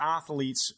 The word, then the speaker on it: athlete: they connect this particular athlete's Fame and therefore langage police I have to jump on that you said athlete you did I did I put three syllables two syllable word athlete I think I was